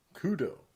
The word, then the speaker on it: Kudo: Kudo.